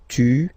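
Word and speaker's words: tu t'appelles: second form toel okay remember final s not pronounced toel okay then sael sael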